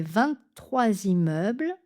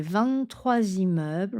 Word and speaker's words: vingt-trois: Et la réponse, les 23 immeubles ou les 23 immeubles ont été construits en même temps. Liaison en Z.